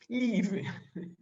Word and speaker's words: leave: I was about to live. Leave. Okay, I write it on the chat box. Leave. Leave.